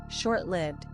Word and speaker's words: short-lived: Temporary, passing away with time, lasting only a short while, momentary, fleeting, short-lived, in which lived is commonly mispronounced with a short I as in give, when it should have a long I as in.